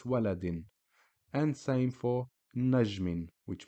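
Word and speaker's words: وَلَدٍ: was just a standard Kasra it would be waladi but because of tanwin Kasra double Kasra it's waladin and same for najmin which means star the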